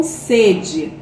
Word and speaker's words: sede: por exemplo estou com sede o som do primeiro e ele é o quê ele é fechado sede estou com sede agora eu fui na sede